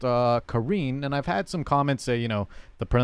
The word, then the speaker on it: Karin: me know at home I've always been saying Karen I think mostly in the community have been saying Karen but apparently it's pronounced uh Karine and I've had some comments say you know